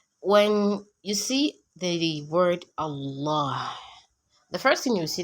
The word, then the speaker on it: Allah: So the second lam has shadda because you have to pronounce it Allah, and because it is a son letter.